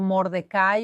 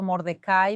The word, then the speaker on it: Mordecai: se inclinaran ante él, pero Mordecay o Mordecai, Mardoqueo, tiene diferentes pronunciaciones. Yo voy a usar el hebreo Mordecai, que es más fácil para mí, pero Mordeekai, obviamente, él se niega